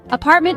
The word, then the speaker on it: apartment: It is a threecllable word. Stress is on the second syllable.